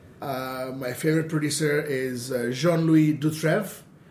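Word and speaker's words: Dutraive: My favorite producer is Jean-Louis Dutrève. Dutrav? A-I-V-E. A-I-V-E. Yeah, Dutrève. This amazing human being, amazing guy in, okay.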